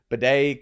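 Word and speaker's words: Badie: back to the 3-man backfield, and it's Tyler Bidet cutting into RJ Harvey.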